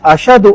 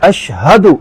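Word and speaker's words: أشهد: لوگ پڑھتے ہیں اشہدو، یہاں شین کے بعد ہا ہے، اس کو واضح نہیں کرتے، پڑھتے ہیں اشہدو اللہ، جو کہ غلط ہے۔ صحیح تلفظ ہے اشہدو، شین کے بعد ہا ہے، ہا پر زبر ہے، اشہدو اللہ الہ۔ دوسری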